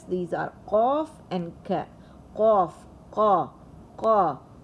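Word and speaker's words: ق: So this qa is pronounced, and it's a heavy letter.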